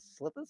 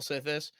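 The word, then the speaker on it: Sythis: But Yeah, this time he played the, what was that, Slithis? How do you say that? Sithis.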